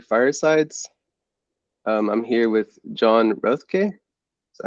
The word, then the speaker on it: Roethke: I'm here with John Roethke.